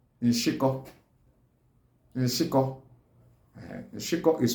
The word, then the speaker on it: Nshiko: Crab is called Nshiko. Nshiko. Nshiko is spelled as N-Sh-A-K-O.